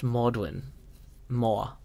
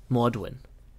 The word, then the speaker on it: God morgen: It's pronounced Maudwin. Maudwin.